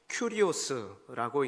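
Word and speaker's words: κύριος: 신약 성경에서 예수님을 주님으로 표현할 때 여기서 주라고 번역된 헬라어는 큐리오스라고 읽는데 라틴어 도미누스와 똑같은 의미입니다.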